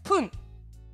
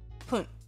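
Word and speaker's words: 分: Ici, lecture irrégulière, Pun. Pun.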